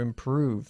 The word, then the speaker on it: improve: Más largo, ¿eh? El sonido de la vocal. To improve.